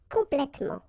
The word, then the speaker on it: complètement: In most of the cases, you don't pronounce this here.